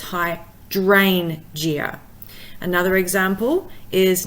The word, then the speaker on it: hydrangea: So for example, hydrangea, because it has got more than 3 syllables, the 3rd syllable from the end is the D-R-A-N, the dran. So it's hydrangea.